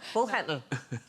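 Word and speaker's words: boghandel: Bog handle. Big head. Yeah, how do you pronounce that one? Bullhandle. Bullhandle. No, Sandra. no, bullhandle.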